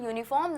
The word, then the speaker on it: uniform: Note that in uniform the letter U is a vowel but is pronounced as U which begins with the consonant sound of Y.